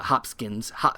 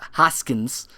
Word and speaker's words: Hoskins: Uh Hopskins Hoskins I say Bob Hopskins. Yeah. I I didn't want to call Yeah. No, I I know I say his name wrong, but um he plays